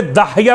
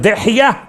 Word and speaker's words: دحیہ: لوگ تلفظ میں اشتباہ کرتے داہیہ پڑھ دیتے ہیں. داہیہ کا ترجمہ ذرا سا نامناسب ہے. اصل لفظ دحیہ ابن خلیفہ الکلبی.